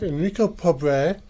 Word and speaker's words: Enrico Pobre: Today with me in the studio, I have Enrico Pobre. Did I pronounce that correctly?